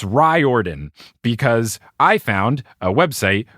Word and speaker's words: Riordan: pronounce his name and i do think that it's ryordan because i found a